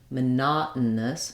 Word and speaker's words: monotonous: on the na syllable monotonous monotonous so there are two ways to do this you can do a t here monotonous but this is a place where we typically uh won't use that t uh Americans were